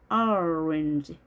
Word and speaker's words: orange: O와 A의 중간 소리입니다. orange. 강세가 O에 있기 때문에 뒤에 있는 모음이 약화 현상이 일어납니다. 그래서 짧게 이 발음을 하죠.